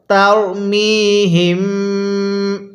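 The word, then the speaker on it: ترميهم: আমার এই চ্যানেলটি সাবস্ক্রাইব করবেন তাহলে কিভাবে পড়বো তারমিহিম এরপরে বা জের বি হা জের হি বিহি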